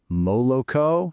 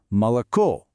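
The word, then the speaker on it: молоко: The stress is on the last O. That means the first two O's are unstressed. So we don't say moloco. No way. We say mal.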